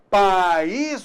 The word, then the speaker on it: país: então apenas uma sílaba país eu tenho duas vogais o a wii opa então nesse caso aí você notou que existem duas sílabas cada vogal com a sua sílaba belezinha então é só